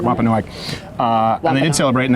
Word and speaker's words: Wampanoag: meal of Thanksgiving with the I think it's pronounced Wampanoag. Is that? Do you know? I want to make sure I'm getting that right. Wampanoag.